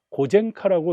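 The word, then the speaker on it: 呉善花: 반면에 한국어 표기와 일본어 발음을 하는 경우에는 한국어로 오손하라고 쓰기는 하지만 발음은 이 오손하에 대한 일본식 발음으로 고젠카라고 이렇게 발음을 한다든가 하는 경우도 있습니다.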